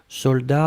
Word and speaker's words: soldats: chose c'est un substantif et c'est le mot soldats je regarde vous l'avez bien écrit attention sec de best soldats avec un thé final on ne prononce pas le thé mais logiquement il devrait